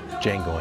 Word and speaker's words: Django: know who we are django unchained what's your name django d j a n g o the d is silent and soon the hateful